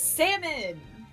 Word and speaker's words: salmon: Some of my coworkers say salmon. They're wrong. I'm like, no. Yeah, They're exactly. wrong. It's salmon. They're wrong, and they should feel bad for being wrong.